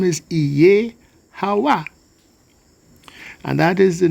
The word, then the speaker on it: Jehovah: Okay, so when it is written as Jehovah, we tend to put the stress on the second syllable, Jehovah. But really it's Iye-Hawa.